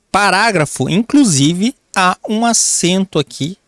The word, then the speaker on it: parágrafo: Não, nós falamos parágrafo.